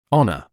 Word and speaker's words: honor: The Hel at the beginning of this word is silent.